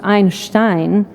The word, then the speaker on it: Einstein: So in my part of the world, it's pronounced Albert Einstein. And to the best of my knowledge, it's an original. In German, it is pronounced Einstein.